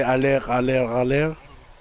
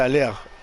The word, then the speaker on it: aller: Well, you say aller with the R. Aller, let's do. Actually, it wouldn't even pronounce. You don't pronounce the R when it's the last letter, right? Well, it would be still aller, right? Well, yeah, it would be aller. Aller.